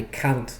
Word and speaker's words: can't: And I think it's because most native speakers don't pronounce the T at the end of the negative can't.